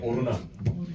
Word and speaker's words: 오르난: 그래서 여부수 말로는 아나우라고 역대상에 보면은 히브리 말로는 오르난이에요. 오르난. 그래서 우리가 오르난의 타작마당, 오르난의 타작마당, 아라우나의 타작마당 같은 인물 이름인데 여부스 발음이고 히브리 발음이에요.